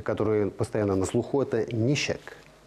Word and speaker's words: ничек: И среди них одно из самых таких важных, те, которые постоянно на слуху, это «нищек». Вот эта русская буква «ч» на татарском языке читается как «щ», скорее, ближе к русскому «щ».